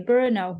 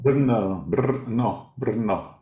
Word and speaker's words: Brno: How do you pronounce that, Gary? Brno. Brno.